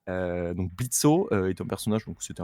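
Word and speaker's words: Blitzø: de Hell of Us qui s'appelle Blitz. The O is silent, comme ils disent bien en version originale. Donc Blitzo est un personnage, donc c'était un diablotin qui a fondé Imp.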